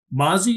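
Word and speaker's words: Mazi: Um all right, so in the second round, number 63 overall, Mazy, is that how he pronounces it?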